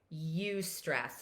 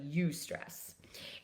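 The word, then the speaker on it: eustress: there is good stress good stress is actually called you stress it's spelled e-u-s-t-r-e-s-s so you stress and use stress is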